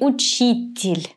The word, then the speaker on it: учитель: So this mark is the stress mark. So we figured now that this year is unstressed. That's why it's going to be pronounced in a weak way. So it will be учитель. Учитель.